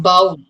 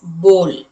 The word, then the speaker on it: bowl: Okay, and it is not bowl. It is bowl.